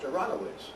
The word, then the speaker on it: Aronovici: And but it's pronounced Aronowitz, and it was written Aronovici.